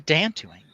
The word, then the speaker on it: Dantooine: They're on Dantooine. I think it's pronounced Dantooine.